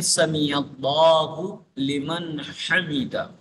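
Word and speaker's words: سَمِعَ اللهُ لِمَنْ حَمِدَه: کو وہ کیا ہے سمیع اللہ لمن حمیدہ۔ اس کو بعض لوگ سمیع اللہ لمن حمیدہ، لمن حمیدہ یہ غلط تلفظ ہے، سمیع اللہ لمن حمیدہ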